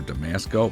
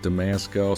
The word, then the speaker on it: Damasko: It's discontinued through DAMASKO themselves, and I've heard it pronounced DAMASKO or Damasco. Mark from Long Island Watch pronounces it DAMASKO, so that's how I'm going to pronounce it.